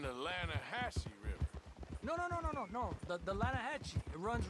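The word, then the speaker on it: Lannahechee: The Lanahatchee. It runs right near here. Yeah, but it's pronounced Lanahatchee.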